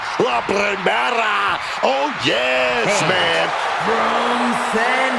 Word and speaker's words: La Primera: La Primera. Stephanie McCare. You need to roll your R's a little bit on that, man. La Primera.